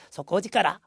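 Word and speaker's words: 底力: 그래서 속고지까라 힘이죠. 그래서 아주 저력이다. 저력. 테이료크라고 읽지 말자라고 해서 써 있죠. 절대 읽지 마시고요. 속고지까라입니다. 속고지까라.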